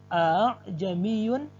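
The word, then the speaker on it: أَأَعْجَمِيٌّ: Untuk tashil, cara membacanya adalah hamzah keduanya diringankan. A'jamiyu.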